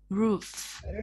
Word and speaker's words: roof: Hai âm O này đọc là u, roof.